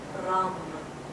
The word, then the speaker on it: Ram: And the sound here is Ram. And if you can roll your R's, then please do, but otherwise Ram is fine.